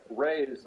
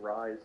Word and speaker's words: Reye: It's pronounced Rye syndrome. The one I found is just REYE''S, Ray's syndrome. According to first YouTube video that says the pronunciation, they pronounce it Rye syndrome.